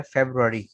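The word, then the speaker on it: February: English में इसको हम पढ़ा जाता है फेब्रुअरी, ठीक है, फेब्रुअरी, FEB फेब है, RU रू है, और ARY अरी, फेब्रुअरी, ठीक है।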